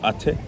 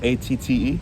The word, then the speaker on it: Atte: My friend from college, his name was like Atte. Like A-T-T-E. What's his name? Atte, not Atte.